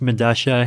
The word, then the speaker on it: Medalla: i believe it's pronounced madasha it's a south american subway station i forget where but spell with two l's yeah yeah because that's you know that's how spanish works right like the two